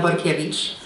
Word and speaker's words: Borkiewicz: you for that introduction my name is actually pronounced Vukovich nobody ever gets that